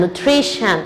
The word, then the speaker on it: nutrition: Essa é a pronúncia, shan. Condition, nutrition, ambition.